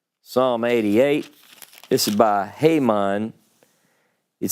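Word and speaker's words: Heman: were the coethites Haman some of y'all pronounce that He-Man the singer it's Haman the singer now I know this singer how do I know this singer go to Psalm 88.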